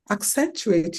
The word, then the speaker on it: accentuate: Accentuate your skills.